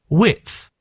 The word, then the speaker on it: width: Width. So if you listen the the D is almost as if the D isn't there at all. Not at all, but it's it's not that loud, is it?